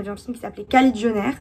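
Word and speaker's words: Kajillionaire: un film qui s'appelait cali john r je crois et non pas caïd jennar c'était bien la peine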